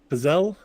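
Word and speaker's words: Psel: Pesel, I think is the pronunciation. Okay. It's P-S-E-L.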